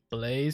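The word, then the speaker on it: Bleys: We're not going home to someone else named Blaze, but it's spelled B-L-E-Y-S.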